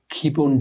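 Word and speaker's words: kybun: Ja, man kann ganz einfach bei Google Kibun Joya eingeben, Kibun oder Joya. Kibun schreibt man K-Y-B-U-N und Joya mit J-O-Y-A.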